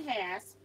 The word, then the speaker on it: Hass: So this one says Marianne Hass, pronounced the same as the avocado, Nashville, Tennessee.